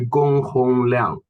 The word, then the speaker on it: Gong HongLiang: Yeah, actually, you can call me Gong HongLiang. Gong My name Hong.